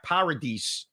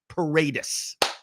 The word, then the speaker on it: Paredes: to throw out Isaac Paradis. I mispronounce his name every time I say it. He's been in the league for a while now. I apologize. Isaac Paredes. Bang.